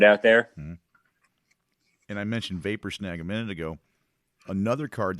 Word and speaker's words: Vapor Snag: And not to mention that Vapor Snare, am I saying it right? Vapor Snag, Lightning Bolts.